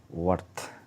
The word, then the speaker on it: worth: ওয়ার্থ উচ্চারণটা হবে WORTH, ওয়ার্থ, ওর্থ না ওয়ার্থ, ঠিক আছে।